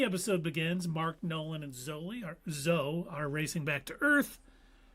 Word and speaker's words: Zoe: it's spelled Z-O-E, but it's Zoe.